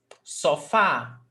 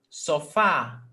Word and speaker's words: sofá: Oxytonas are those words in which the last syllable is stressed, okay? So every time that you have a word where the last syllable is the stressed syllable, that's called palavra oxítona.